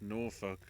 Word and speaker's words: Norfolk: dead confirm out Alan beat Sabian remember it's pronounced Norfolk as in no way just